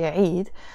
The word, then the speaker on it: عيد: In English you pronounce it Eid, but it's actually عيد, and it means in French fête, which is the feast.